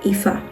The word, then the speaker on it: Aoife: And it doesn't sound correct because it's not an English name, it's not in the English language, it's in the Irish language, so the pronunciation, the sound of the letters is not consistent with the sound of English letters.